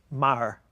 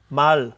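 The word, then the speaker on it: 말: if I say the word for horse Mar is that am I saying it well Mal so you are more L yeah mhm when you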